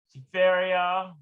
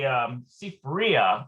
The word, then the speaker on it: Sifria: Okay, so we'll look at our Seferia, actually Sifria, it might be Sifria. And I always have difficulty with the pronunciation of that word, Sifria. Sifria. Let's look at that. Okay. Sifria. Sifria. Sifria. And you got to pay attention to where the emphasis.